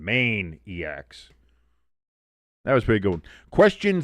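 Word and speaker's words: Maineiacs: Spelled like the state of Maine. Maine-iacs.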